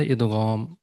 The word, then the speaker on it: إدغام: تو نارملی ہم ادغام بولتے ہیں، لیکن اس کا جو عربک میں پروننسیشن ہے، تلفظ ہے ادغام. غین زبر ہمیشہ غو. ٹھیک ہے، تو ادغام ادغام نہیں.